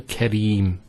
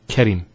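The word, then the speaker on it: كريم: So here we have the ra, kasra, followed by the ya. This is the ya here. So Kareem, not Karim.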